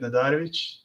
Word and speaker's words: Nadarevic: That's the real pronunciation of the name. People are always anglicizing it and changing it.